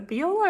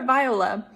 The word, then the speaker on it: Viola: Like when people meet me, they're like, is it Viola or Viola?